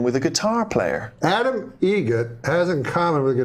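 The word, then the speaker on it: Eget: Egget. Spelt differently. Like the bird. That's Egret. Do you know what Adam Egert has in common with a guitar player? Adam Egget has in common with a guitar player.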